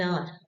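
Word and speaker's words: hour: जैसे कि एन आर वी हाउ we pronounce N आर हम एन हवर नहीं बोलेंगे।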